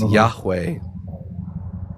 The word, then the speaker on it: Yahweh: The best scholarly reconstruction for the tetragrammaton that we're able to devise is Yahweh.